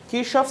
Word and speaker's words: Kirchhoff: In German, Kirchhoff is pronounced as Kirchhoff.